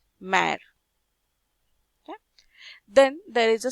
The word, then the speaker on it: mère: The pronunciation becomes A, mère.